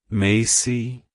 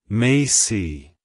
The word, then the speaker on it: Macey: it's pronounced as mayy Macy Macy to pronounce it correctly emphasize the first syllable May and end with aof